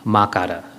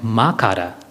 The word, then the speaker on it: makara: It is broken up into 3 syllables, akara, ukara, and makara.